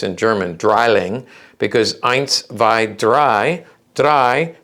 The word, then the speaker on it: Drilling: saying it's a drilling it's also it's actually pronounced in german dryling because eins vi dry dry means three so this is we call it a drilling um and we would be wrong that's we